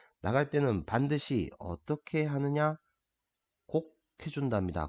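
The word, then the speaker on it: 告: 곡. 자, 이 글자는 알리다 고라고 하는 글자인데 여기에서는 고라고 하지 않고 곡이라고 읽어줍니다. 왜냐하면 나보다 나이가 많으신 연륜이 많으신 어른들한테 청해가지고 알려드리는 걸 뵙고 청하기 때문에 곡이라고 읽어줍니다.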